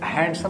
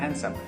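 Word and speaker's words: handsome: Shyam is a very हैंडसम, ठीक है, इसको हैंडसम नहीं पढ़ते हैं, हैंडसम, डी यहाँ पर साइलेंट है, इसको पढ़ेंगे हैंडसम, ठीक है।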